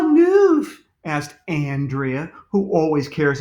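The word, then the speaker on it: knoof: K-N-O-O-F, he replied. The K is silent.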